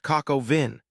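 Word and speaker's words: coq au vin: The dish is pronounced coco vin.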